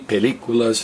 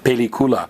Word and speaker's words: película: see a film about Dracula so pelicula smoothie peliculas film le coolers movie Billy coolers film and